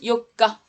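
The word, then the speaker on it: 四日: là le conso ne répète alors ça se prononce Yoka alors vas-y ça s'écrit comme ça c'est le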